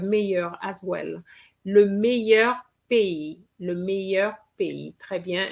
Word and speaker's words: pays: Le meilleur pays. Le meilleur pays. Très bien. And you have to remember that pays has an S. It's just like that. It has an S and it's not pronounced, okay?